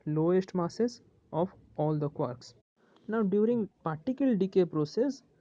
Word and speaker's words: quark: Okay, so here a point to remember ये जो quark रो pronunciation अच्छी quark is pronounced as quark as the word pork pork is pronounced.